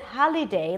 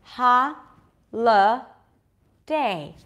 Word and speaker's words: holiday: Lee in the middle is there a vowel there is it holiday like most non-native speakers will pronounce it or can we drop the Lee to aw L now try it out loud with me is it holiday or H Day holiday holiday does that